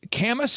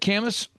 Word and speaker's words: Camas: And again, Dirk, for anybody out there looking at how to pronounce the name of the town, it's Camas, you said? Camas? Camas Storage.